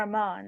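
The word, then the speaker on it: Amon: number two we have ammon or amman as some people pronounce it amman was an incredible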